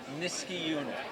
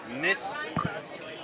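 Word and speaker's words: Niskayuna: pronounced Niskiuna. Niskiuna. Frisky tuna.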